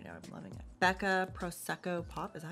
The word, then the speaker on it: Prosecco Pop: Becca Prosecco Pop, is that how you say it? Yeah, Prosecco Pop.